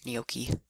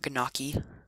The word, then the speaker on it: gnocchi: let's take this gnocchi I love gnocchi and yes that's how you say it so you pronounce it not ganaki like it looks also this bread this